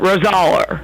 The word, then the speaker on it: Rosaler: Everyone mispronounces it. Rosaler.